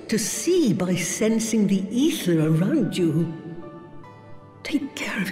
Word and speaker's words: Aether: an eye for Aether that's what makes you think that it's pronounced an eye for either but it's actually I forget ether is how the voice actor said in this game right